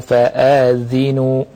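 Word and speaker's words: فَآذِنُوا: Fa'adhinu bimaddil alifi wa kasrid zal. Alifnya dipanjangkan, kemudian zalnya di kasrah. Jadi bacanya fa'in lam taf'alu fa'adhinu.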